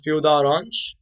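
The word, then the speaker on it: peau d'orange: called as P Da orang right which is p the orang P the orang you can pronounce it in a different way if you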